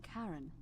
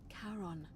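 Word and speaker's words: Charon: Only your pronunciation is a little off. The name you heard wasn't Karen. It was C H A R O N. As in Karon, the fairyman of the dead.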